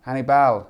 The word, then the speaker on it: Hannibal: his first name Hannibal it's not it's not Hannibal guys everyone's been saying it wrong apparently it's Hannibal Annie Bell Hannibal and I was